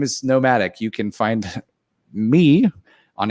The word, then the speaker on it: NOMVDIC: band name is uh nomadic we spell it with a v for some reason i hate it i